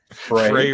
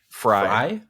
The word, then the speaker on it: Frey: we are trying which which way do you say it Frey Fray Ranch Jesus I I was gonna say that and then I did double get I second guess myself what was the other pronunciation fry yeah he was just